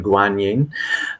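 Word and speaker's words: Guanyin: well and so um canon in Japanese I some PE some English speakers are more familiar with the the Chinese pronunciation guanin um but this is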